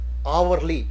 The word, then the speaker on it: hourly: Here, even though H is the first alphabet in the spelling, but the pronunciation is hourly, as shown here, hourly wage.